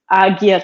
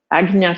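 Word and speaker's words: Ajna: tradition says this is agia chakra and it's not pronounced sorry it's more of a g than a j sound which means the command center agna chakra is the command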